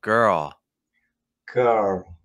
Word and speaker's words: girl: How about girl? Girl, girl. Just a little more open again on the dark L at the end.